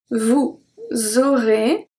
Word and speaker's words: vous aurez: So j'aurai and vous aurez are pronounced exactly the same. So because AI at the end make the sound E, and then EZ at the end make the sound E as well.